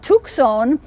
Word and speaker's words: Tucson: for a saint and tuxon was the pronunciation at the time of this community tucson that's originally a an